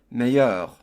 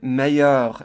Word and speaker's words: meilleur: The word meilleur in French is spelled M-E-I-L-L-E-U-R. The L's are silent, and the M-E-I sounds like A, and the E-U-R sounds like eur. So when we put it all together, we get meilleur.